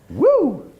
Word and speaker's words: WEW: Right, and it's pronounced woo!